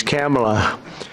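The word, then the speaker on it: Kamla: first name that we have, but fortunately it's pronounced different. It's Kamala as opposed to Kamala.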